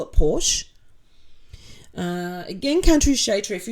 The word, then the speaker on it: Porsche: Porsche is usually pronounced Porsche. Two syllables.